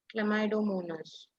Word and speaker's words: Chlamydomonas: Um, it's pronounced as chlamydomonas. Wait. I have a video. Wait. on this channel. Well, Ma'am, right can you hear now you will it? see how pronounce this word. The word you see is sounds like chlamydomonas. Chlamydomonas. Chlamydomonas. it's chlamydomonas. I will repeat it more slower.